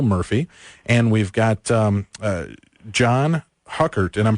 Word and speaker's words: Huckert: We've got online with us, we've got Bill Murphy, and we've got John Huckert, and I'm pronouncing that correctly, right, John? Yes. Okay, John Huckert, and we're talking about spirit photography and these amazing pieces of evidence that are coming out.